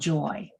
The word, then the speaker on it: Joie: And I just realized, I'm sorry, we asked you how to say your name and I said it wrong. It's Joy. That's Joy.